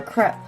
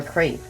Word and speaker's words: crepe: this all over or krepp or a crepe either way you want to pronounce it and you're just gonna